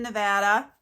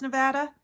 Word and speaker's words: Nevada: Named after, of course, Area 51, which is in Nevada. Did you know that it's pronounced Nevada?